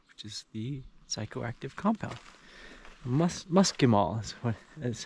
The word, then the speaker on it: muscimol: Muscimol is how he pronounced it.